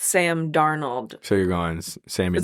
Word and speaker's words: Darnold: And it's Sam Darnold.